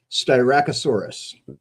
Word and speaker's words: Styracosaurus: Now, Jeff, you got to help me with the pronunciation here. What is that? Styracosaurus.